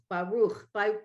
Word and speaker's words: Baruch: The word Baruch has that Baruch, ooh, Baruch, well, it's Baruch.